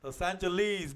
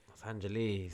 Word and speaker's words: Los Angeles: How do they say Los Angeles? Los Angeles, because the E is accentuated. Los Angeles.